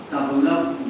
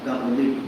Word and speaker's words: تغلب: ابان بن تغلب یا تغلب دونوں تلفظ کرتے ہیں.